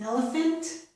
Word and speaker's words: elephant: Here, in elephant, F is made with the letters PH, and also in this word, nephew, F is made with PH, nephew, okay?